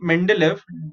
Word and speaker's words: Mendeleev: of the scientist okay m e n is men d is day l e e okay so the russian scientist dimitri mendelev developed the periodic table